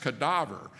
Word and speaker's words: cadaver: a corpse a cadaver the latin word uh uh is is spelled the same but it's pronounced differently it's product pronounced cadaver and so it it's